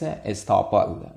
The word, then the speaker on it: estoppel: stopple against the government the proper pronunciation for this is estoppel but in the philippines